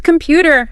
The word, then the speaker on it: computer: It's computer. Second syllable. Feel that little push.